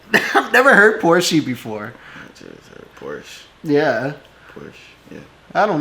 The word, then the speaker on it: Porsche: heard america or porsche in german we say porsche so there's like this short a sound so you know like